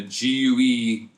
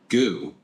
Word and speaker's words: GUE: So, I know he's taking a gue course. It's gu. It's not goo.